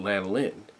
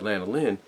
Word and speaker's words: Lanolin: that Atlanta line but lanolin you know I know I pronounced that name wrong in the last video but Lana Lynn you know because of